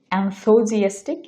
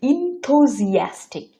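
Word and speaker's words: enthusiastic: বা উৎসাহিত এটার ইংরেজি আমরা অনেকে বলে থাকি এনথোজিয়াস্টিক এটার ইংরেজি হবে ইনথুজিয়াস্টিক ইনসোজিয়াস্টিক ইনোজিয়াস্টিক যারা আমার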